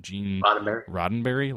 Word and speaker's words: Gene Roddenberry: Gene how do you pronounce his name? Gene Roddenberry.